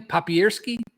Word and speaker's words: Papierski: One time, as Mike, how do you pronounce his name? Papierski.